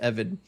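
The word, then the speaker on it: עבד: Uh yeah, the slave defense uh in Hebrews is that if for anyone wondering, that's how you spell slave in Hebrew. It's pronounced EVID.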